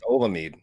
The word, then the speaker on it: Olamide: I can't pronounce his name. Odemain. He's just butchering the first name. We're calling him Zach. It's Olamide.